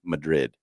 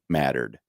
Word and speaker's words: Madrid: town in Nebraska that when you read it it it looks like it should say Madrid but the residents of that town pronounce it mattered of course they oh